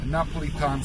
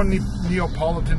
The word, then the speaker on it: Neapolitan: Now, not many places give you the option of getting Napolitan style pizza. Now, that's how it's said. No Neapolitan style, Napolitan. It's very easy to say, and that's it.